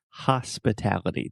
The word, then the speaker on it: hospitality: And one other small observation, hospitality. The first sound is just like my name.